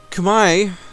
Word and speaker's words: Kumai: Now, Kumai, as I've been told it's pronounced, has lost his alliances.